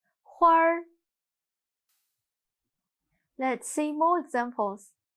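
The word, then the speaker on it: 花儿: Now, 跟我读这儿画儿门儿花儿 Let's see more examples.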